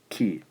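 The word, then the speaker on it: き: K and I, which gives us ki.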